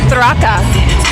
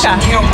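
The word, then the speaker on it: Tracas: Coming up next, Drew de Thraka. I learned recently that's how you pronounce it. Yes, Traka.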